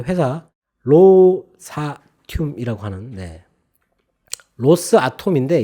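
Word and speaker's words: Rosatom: 근데 곧바로 미국에서 러시아 원자력 그 회사 로사튬이라고 하는 로스아톰인데 이걸 붙여가지고 로사튬이라고 이렇게 발음을 하더라고요.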